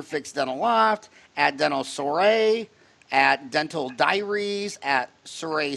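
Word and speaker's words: soirée: Additionally, in the fall of 2016, she launched another business, Dental Soiree. Soiree, like the party.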